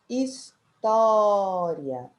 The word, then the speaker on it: história: e por quê Porque na palavra história o som é aberto e já na palavra ônibus o som é fechado Preste atenção nos sinais